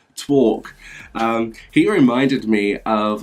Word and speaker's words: Torque: And then last but not least, we have Torque. I think that's how you pronounce it. Torque. Not twerk, Torque.